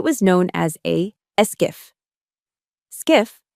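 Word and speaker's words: SCIF: Skiff, pronounced skiff, stands for sensitive compartmented information facility.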